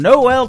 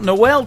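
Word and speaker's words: Noelle: Three songs from Noel from Nashville, Tennessee.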